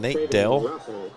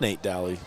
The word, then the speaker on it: Dally: Their announcer saying Nate Dale. I think he said Nate Dale. It's Nate Dally making that play, Tooele.